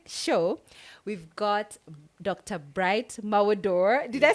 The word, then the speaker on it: Mawudor: today for the show we've got dr bright malwador did i say that correct yes yes oh